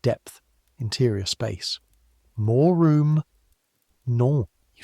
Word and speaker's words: non: This nasal. So, n o n again. Non. Better. But the o has to curl it back just slightly.